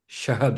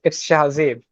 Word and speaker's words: Shahzeb: Shahabs, right? No, it's Shahzeb.